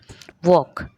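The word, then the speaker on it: walk: होता है ठीक है वॉक वॉक में एल साइलेंट आवर में एच साइलेंट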